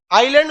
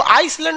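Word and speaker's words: island: आइलैंड में ना S silent रहता है। इसको आइसलैंड नहीं पढ़िएगा, आइलैंड।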